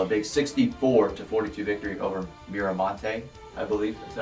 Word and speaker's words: Miramonte: We're starting off with Oakdale, a big 64-42 victory over Miramonte, I believe. Is that how you say it? Miramonte, yeah.